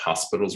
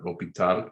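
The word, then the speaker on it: L'Hôpital: Okay, let's take a look at lesson 4.8, L'Hopital's rule. You may find it, some people call it hospital's rule. Some people spell it with an S, but L'Hopital, French. So we'll go with that, what our textbook goes with.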